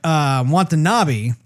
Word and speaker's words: Watanabe: But Watanabe, did I say his name right?